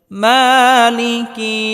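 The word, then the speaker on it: مَالِكِ: মালিকি ইয়াউমিদ্দিন এক আলিফ টেনে পড়তে হবে অনেকেই আমরা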